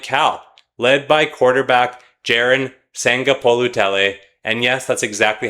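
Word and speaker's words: Sagapolutele: Can a team like Cal led by quarterback Jiren Sangapolutell, and yes, that's exactly how you say his name.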